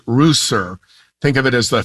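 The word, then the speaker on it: Ruser: call me um my last name is pronounced Rouser think of it as the farm animal without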